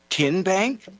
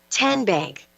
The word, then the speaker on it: TN Bank: How do you say the name TN Bank? Nope. Tin Bank? Uh-uh. So, what is it? Ten Bank. 10 as in Tennessee.